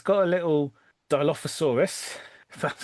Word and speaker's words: Dilophosaurus: It's got a little Dilophosaurus. That's how one pronounces that name.